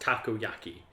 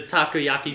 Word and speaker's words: takoyaki: is a Japanese street food I believe it's pronounced taco a key it is like fried octopus holes which is kind of terrifying because he's an octopus yeah and his design is the takoyaki Street food so it's like you kind of